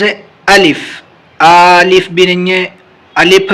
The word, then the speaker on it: الف: گا۔ چلیے شروع کرتے ہیں۔ الف، اس کا تلفظ ہے الف، الف بھی نہیں ہے، الف بھی نہیں ہے۔ اسی طریقے سے اور جتنی بھی چیزیں پڑھی جائیں گی الف کے علاوہ وہ ساری کے سارے غلط ہیں۔